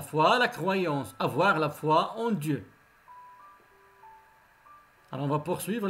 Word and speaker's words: foie: foie, le foie.